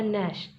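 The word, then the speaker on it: gnash: गया साइलेंट हो गया, एन की जी की आवाज़ नहीं आएगी, हो जाएगा नैश।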